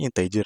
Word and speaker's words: integer: apa sih integer ager-ager integer ini tu e dibacanya inteer ya integer jadi integer itu